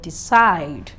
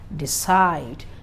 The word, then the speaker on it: decide: the sure sound now most receivable verbs are stressed on the second syllable for example you have the word decide decide then you have exports